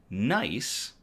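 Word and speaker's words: GNEISS: science mission known as NICE. It's it's spelled G nei, but it's pronounced nice. The G is silent.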